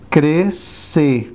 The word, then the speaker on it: crescer: To grow up, crescer, S-C in the same syllable, crescer. We say E, crescer.